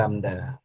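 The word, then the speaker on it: lambda: lamda kali F itu cara baca huruf ini lamda ya namanya lamda nah F itu frekuensi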